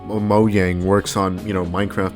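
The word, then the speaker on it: Mojang: minecraft is owned by mo yang and i swear to god if you told me that it's not pronounced that way i'm gonna come to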